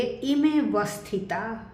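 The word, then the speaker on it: इमेऽवस्थिता: लेकिन जब हम इकट्ठे शब्द का उच्चारण करेंगे तो इस ए का उच्चारण नहीं करते, हम इसे बोलेंगे इमे वस्थिता।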